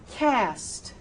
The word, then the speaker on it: cast: in the real world, I would not go cast. He had his cast removed, but I'd go cast.